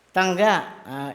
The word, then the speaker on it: tanga: How to pronounce it? Tangga. Single lang kasi yung G. At ang kalawang.